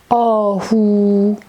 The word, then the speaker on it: آهو: Holu, holu, and he and u, who, we have the very beautiful ghazal, ahu, ahu. I write it for you here, ah, who, ahu.